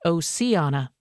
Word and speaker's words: Oceana: Oceana High School in Oceana, West Virginia, pronounced Oceana.